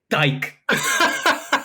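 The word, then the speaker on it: Dyche: That's not how you say his name. Wheel it. How you say it? Sean Dyke. Oh, word?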